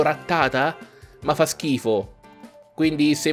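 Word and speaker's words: Rattata: di diverso se non ratta tac ed andrebbe pronunciato retata ma fa schifo quindi se volete pronunciarlo retata ok se no continuate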